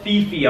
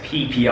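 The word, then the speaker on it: Phi Phi: It's spelled Fifi Islands. Okay, it's actually pronounced PP Islands, which doesn't sound very nice.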